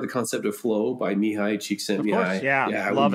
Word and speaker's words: Mihai Csikszentmihalyi: You guys have heard the concept of flow by Mihai Csikszentmihalyi. Of course, yeah, I love it. Good job on the pronunciation.